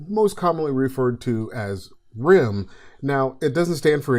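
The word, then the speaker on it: RIMM: RDRAM is most commonly referred to as RIM. Now, it doesn't stand for anything, it just happened to rhyme with SIM and DIMM.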